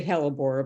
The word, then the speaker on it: hellebore: It is a hellebore, by the way, you pronounced it correctly.